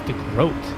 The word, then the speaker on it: DeGroat: Yeah, I'm thinking if I keep calling him DeGroat, it's DeGroat. According to your pronunciation, I'm thinking he's at this point just thinking. That is what he said. Is that what it is? DeGroat? Sounds like goat.